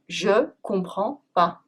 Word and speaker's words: Je comprends pas: Je comprends pas ! is often pronounced “Jcomprends pas” Well here, we even drop the pas !